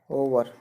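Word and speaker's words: hour: अगला उदाहरण एच ओ यू आर, ओवर। यहाँ पर भी एच से शुरुआत हो रही है जो कि कॉन्सोनेंट्स है, लेकिन इसका जो उच्चारण है वो ओ से हो रहा है, इसलिए यहाँ पर भी एन आर्टिकल का प्रयोग होगा।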